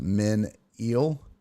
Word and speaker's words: Menil: It's pronounced Men-Eel.